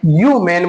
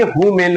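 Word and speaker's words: human: जानना बहुत जरूरी है ये एक्सेप्शन है यू मेन बोलेंगे एच हमारा साइलेंट होगा यहां कोई रूल कोई ग्रामर यहां पर जो है इसपे एक्ट नहीं होगा तो हम यू मेन बोलेंगे हु मेन नहीं बोलेंगे तो दोस्तों ये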